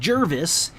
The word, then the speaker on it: Gervais: Valley of Oregon je r vis it is pronounced Gervais it should be sheriff a if my wife